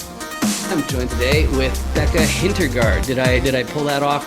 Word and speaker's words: Hintergardt: I'm joined today with Becca Hintergardt. Did I pull that off right? Is that a good way to pronounce that, or did I mess it up?